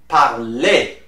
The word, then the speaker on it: parlez: Easy at the end is pronounced E with the accent, the sound E. So you will say vous parlez.